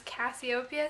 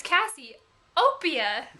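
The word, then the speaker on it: Cassiopeia: people my name is Cassie Opia and I I would break it up into two and my mom's like no you had to say it like real quick right together cassieopia I said Cassie Opia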